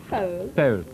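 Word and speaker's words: Pöhl: But the head of Germany's central bank, Karl Otto Pohl, says Germany, that's how you pronounce it. Pohl.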